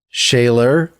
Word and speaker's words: Scheler: So shaylor, you know, that's the sort of German pronunciation.